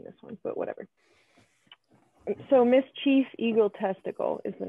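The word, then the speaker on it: Miss Chief Eagle Testickle: one but whatever so miss chief eagle testicle is the name and it's not spelled like testicle like the organ it's like test tickle so like like tickle so that's fun and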